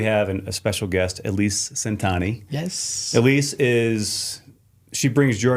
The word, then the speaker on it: Centanni: It's always Centanni. Oh, wow. So Pronounces it for him, too.